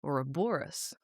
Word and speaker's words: Ouroboros: It's Ouroboros. I mean, I think stress on it's a the Greek third word.